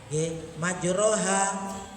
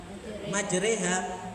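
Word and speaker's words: مجراها: Majroha, kelintu membacanya tetap majroha, tidak dibaca majreha.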